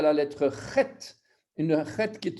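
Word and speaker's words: חית: Ensuite, on est arrivé à la lettre Chet, une Chet qui est une lettre gutturale. Ça doit se prononcer dans la gorge.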